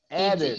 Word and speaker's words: added: No, Added. Erica. ED. Erica, pay attention. Oh, After sorry. D and T, you pronounce ED. Added. ED. Added. Like a separate syllable.